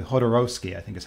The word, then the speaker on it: Jodorowsky: With Alejandro, make sure I pronounce this correctly, Jodorowsky, I think is how they pronounce his name.